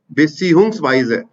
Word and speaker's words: Beziehungsweise: Respectively है ना, full form लिख लो उसको, बेसियुंग्सवाइजे।